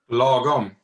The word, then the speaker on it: lagom: There's a beautiful Swedish word, Josef, correct me if I'm wrong on the pronunciation, but I think it's logom. Lagom.